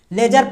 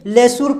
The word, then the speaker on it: leisure: इसको क्या पढ़ेंगे, लेजर पढ़ेंगे, ये नहीं कि लेसुर पढ़ दें, इस तरह का उच्चारण गलत हो जाएगा, लेसुर नहीं है ये लेजर शब्द है।